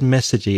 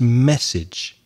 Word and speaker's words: message: pronunciation of message message the final e or message is silent so you said message e its message message and the a sound is pronounced a message message thank you for your